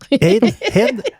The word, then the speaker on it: Haïd: Haïd. J'ai-tu dit comme il faut? Non. Non? Non. Haïd? Dans la vraie façon de Dis-lui.